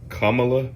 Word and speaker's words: Kamala: going to talk about kamla Harrison see I said it right kamla Harris because there another